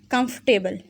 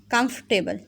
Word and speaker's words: comfortable: अच्छा, एक बात याद रखें कि कंफर्टेबल में ओ और आर दोनों साइलेंट है। एफ के फ़ौरन बाद आप टी पढ़ोगे, कंफर्टेबल, कंफर्टेबल, ठीक है।